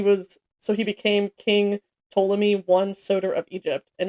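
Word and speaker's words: Ptolemy: So the era began when Alexander's general which is and I have I hope I'm pronouncing this right but I think it's Tommy it's P T O L E M Y Tommy uh took over as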